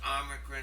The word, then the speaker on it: omicron: The name of the letter is omicron. It makes the short O sound, as in the word hot or pot, ah.